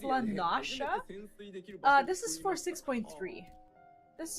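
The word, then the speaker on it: La Noscea: Did you know that it's pronounced Lanasha?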